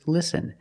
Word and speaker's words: listen: t is silent example listen and fasten you see s t en with this spelling pattern you can see the t is silent listen we don't say listen it's listen and fasten example fasten